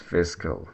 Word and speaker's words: fiscal: The second syllable is weak and not prominent. It's cal. So it's fiscal.